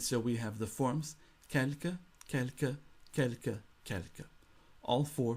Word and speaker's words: quelque: Another indefinite adjective in French is quelque, which means some, a few, any, or a small quantity of.